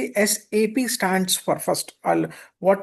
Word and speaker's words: SAP: So never ever pronounce it as in sap. The first correction need to be pronounced it as a s a p. It's an it's not a word. It's an abbreviation.